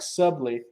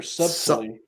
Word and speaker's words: subtly: You know how to strike subtly or subtly. Yeah. So I don't know how to pronounce it. You can be all sneaky. Yeah. Just don't say the B.